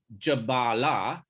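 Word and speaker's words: Jabālā: to his mother, Jabala, it's not the same. Notice that's got a line on the first A. So ladies have, a short A is always going to be a male name. Long A is always going to be a lady's name.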